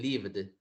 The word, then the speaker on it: lived: Este se pronuncia con la D al final. No lived, sino que más bien lived.